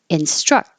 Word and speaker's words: instruct: Instruct. Hold the T. She will instruct. But if there's a vowel after it, now the T will change to a D. She will instruct us.